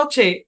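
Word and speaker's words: who: দিতাম আচ্ছা এখন কথা হচ্ছে এই নিয়মের আবার একটা ব্যতিক্রমও আছে ব্যতিক্রম কি তবে নিচের শব্দগুলোতে ডব্লিউ সাইলেন্ট থাকবে এইচ উচ্চারণ হবে ওই ক্লাসেও কিন্তু চারটা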